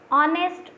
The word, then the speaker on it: honest: Honest, honor, R, hair, higher. So H is silent in every word.